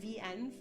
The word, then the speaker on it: venv: Here are some steps to create a virtual environment using the built-in venv, or like venv is how we pronounce it, using that built-in venv tool that comes with your Mac.